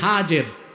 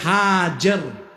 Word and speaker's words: হাজের: এবার তুমি তোমার স্ত্রী হাজের যাকে আমরা বলি হাজেরা হাদিস শরীফে তার নাম এসেছে হাজের কি নাম আমরা বলি সমস্যা নাই শুদ্ধ উচ্চারণটা কি হাজের হযরত হাজের আর তার